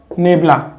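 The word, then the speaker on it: ∇: तो ऊपर वाले का नाम तो क्या हो जाता है, डेल्टा, और इसका प्रोनाउंसिएशन होता है नेबुला, NEBLA, नेबुला, ठीक है ना।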